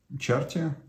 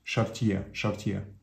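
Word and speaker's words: Chartier: очки за неразмещенные здания чарте правильно произносит шартье это можно взять жетон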